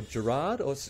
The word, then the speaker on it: Gerard: Is it Gerard or Gerard? Because, like, it always gets mispronounced. What is it, really? Oh, actually, I get this every day. It's actually Gerard.